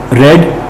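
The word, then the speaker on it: read: आई रेड, रेड का तीनों form same होता है स्पेलिंग में, बट प्रोनाउंसिएशन अलग अलग करते हैं, रीड रेड रेड करके, लेकिन स्पेलिंग सेम होता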